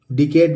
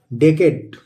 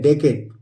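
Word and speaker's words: decade: meaning हम लोग देखेंगे डीई सी ए डीई डेकेट डिकेड नहीं होता है दोस्तो डेकेट इसको पढ़ते हैं डेकेट डीई एस पी आई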